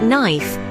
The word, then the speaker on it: knife: for example in English K is often silent when it precedes the letter N at the beginning of a word words like knife KNE and no all feature a silent k a remnant of their